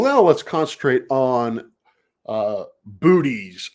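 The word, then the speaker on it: Boötes: let's concentrate on uh booties or biotes I believe is the actual pronunciation of it this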